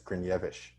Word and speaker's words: Gryniewicz: i would say it i would say it grenowie's i'd butcher it right but uh but apparently the correct pronunciation is grenievish green yeah i love